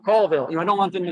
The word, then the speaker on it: Colville: say like, "And there's another forest fire in Colville." So I'll pull over my car and I'll call anonymously. I'll call the news desk and say like, "Yeah, no, it's pronounced Colville."